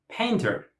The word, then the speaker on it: painter: Number 1, painter. Painter. First syllable.